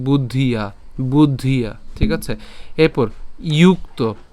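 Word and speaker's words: বুদ্ধ্যা: তো তুই মাংস শ্রেণু তুই মাংস শ্রীণু এরপর বুদ্ধিয়া বুদ্ধিয়া এখানে খেয়াল করতে হবে আমাদের ব রসুকার দ পর্যন্ত আমরা উচ্চারণ করছি এরপর ধ উচ্চারণ করবো অর্থাৎ বুদ্ধ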